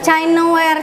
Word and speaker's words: Chinaware: Chineware atau Chinaware dibacanya Chinaware. Chinare.